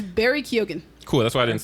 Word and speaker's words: Barry Keoghan: I believe it's Barry Keoghan. Cool, that's why I didn't start with him. Keoghan.